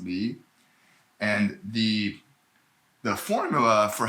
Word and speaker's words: 离: It's pronounced li.